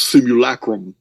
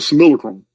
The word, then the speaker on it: simulacrum: that we live in this similar Chrome it's pronounced simulacrum in the old Latin the old Latin books